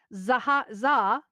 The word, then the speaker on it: Zaha: Zaha, which is how it's pronounced, ZHA, wants to recreate it in VR.